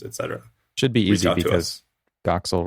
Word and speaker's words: Doxel: Should be easy because Doxil rhymes with Troxil and that's the name of the show.